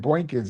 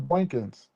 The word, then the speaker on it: Boykins: He keeps on saying Boinkkins. It's not Boinkkins. Earl Boykins. Boykins. It's Boykins.